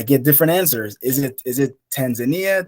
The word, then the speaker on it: Tanzania: Is it Tanzania, Tanzania, Tanzania? Depends on the pronunciation of a person.